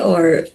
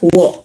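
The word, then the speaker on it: を: Okay, so for the particle o here is pronounced as o. Okay, not wo, but o.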